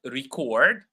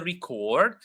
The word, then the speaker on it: record: unnoticeable but it's there it's more visible in the two words contact I have his contact I will contact you and in the word record I have the record or I will record or and I have the record Okay.